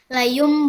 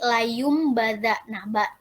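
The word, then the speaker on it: لَيُنۢبَذَنَّ: yaitu Mbak contohnya itu Layung badan nah Layung itu kan nun mati ya Nun mati bertemu dengan mbak jadi dia dibacanya Bukan layun tapi layumbada itu diganti dengan mim jadi layumbada gitu Nah mungkin Cukup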